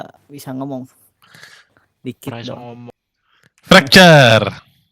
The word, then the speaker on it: Fracture: Fracture. Fraktur. Bacanya tuh gini loh.